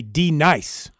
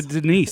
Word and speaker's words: D-Nice: was going to say, that would D-Nice. translate to Denise, wouldn't it? Yeah, it would. Denise. All right, Denise. I remember that, the classroom sketch. Say it right. D-Nice. D-Nice. That's not your name.